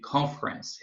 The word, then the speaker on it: conference: Aqui uma nota em relação à pronúncia de conference.